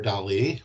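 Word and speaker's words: Dalí: celebrate his name is salvador dali with the accent on the eye he's a spanish artist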